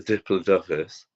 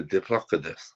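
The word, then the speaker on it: Diplocaulus: It's not the Diplodus. It's the Diplocadus.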